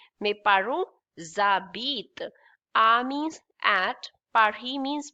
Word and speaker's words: habitent: ent, but we don't speak that ent, so it will be habit only. Habit. But this is S and this is silent H, so it will be Z.